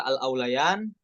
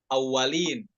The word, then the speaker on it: الأوليان: Nah, kita perhatikan pada kata al-aulayan, nantabi ila sukunil waw wa fathul lam wal ya, ya. Al-aulayan bukan dibaca awalin ya, tapi al-aulayan, wawunya sukun, bukan tasydid.